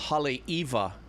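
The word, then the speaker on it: Haleʻiwa: to a town called Hal Eva and it's spelled I W but in Hawaii whenever there's a w in the middle of the word it's pronounced it has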